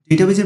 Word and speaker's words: database: সময় আমি ডেটাবেজ অথবা ডাটাবেজ বলে থাকব, এই দুইটা মিশ্রণ করতে পারে, সেজন্য আমি কমা চেয়ে নিচ্ছি। কারণ আপনারা অনেকেই জানেন যে ইংরেজিতে সঠিক প্রোনাউন্সিয়েশন হচ্ছে ডেটাবেজ, কিন্তু বাংলা টেক্সট বুকে লেখা আছে ডাটাবেজ।